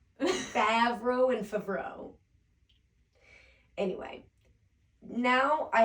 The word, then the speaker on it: Favreau: It's Favreau.